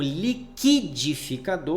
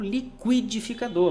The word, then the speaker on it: liquidificador: Então, liquidificador, apesar do U ser pronunciado, o trema não é mais utilizado, ok? E a pronúncia você pode utilizar como liquidificador ou liquidificador.